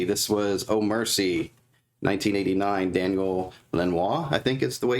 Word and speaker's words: Daniel Lanois: So, then we have, let's see, this was Oh Mercy, 1989, Daniel Lanois, I think is the way you pronounce his name.